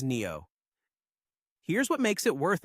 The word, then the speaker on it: NdFeB: More precisely, it's a sintered alloy of neodymium, iron and boron, which the industry writes as NdFeB, and everyone pronounces as Neo.